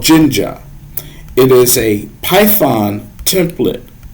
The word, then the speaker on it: Jinja: template it is called jinja it is a python template um creator for lack of a better term and it's and it's pronounced i believe it's pronounced ginger i may be saying